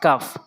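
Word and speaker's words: قاف: এরপরে কাফ রয়েছে, কাফ রয়েছে, কাফ কাফ কাফ কাফ কীভাবে উচ্চারণ করব? জিহ্বার গোড়া থেকে একটু আগে বাড়াতে হবে, এই অংশটা উপরে তালুর সঙ্গে লাগাবেন।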